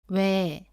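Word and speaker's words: 외: 따라해 보세요 와 왜 왜 왜 뭐 위 의 으 여기에서 왜 왜 왜 소리가 거의 같다고 했습니다 발음이 거의 같아요 하지만 글로 쓸 때는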